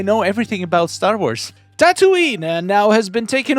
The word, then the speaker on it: Tatooine: Tatooine Okay, I need to figure out how to pronounce this word correctly.